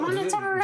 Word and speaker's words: Monotaro: Oh, Montaro. The second O is silent. It's a Japanese thing.